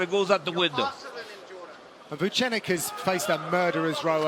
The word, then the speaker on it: Vucenic: Vucenic is sparking in his debut.